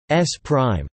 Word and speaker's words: S′: Frame S belongs to a first observer O, and frame S, pronounced S prime, belongs to a second observer O.